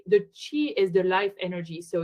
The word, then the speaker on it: Qi: I I personally explain is to say the chi is the Life Energy so you spell it Qi and the life energy and there